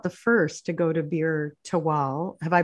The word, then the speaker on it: Bir Tawil: Well, my understanding here too is he was not the first to go to Bir Tawil. Have I pronounced it correctly? Tawil? Bir Tawil.